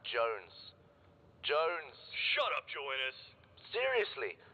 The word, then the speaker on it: Jones: Joannis. Joannis, where the hell are you? Sir, for the millionth time, my name is pronounced Jones.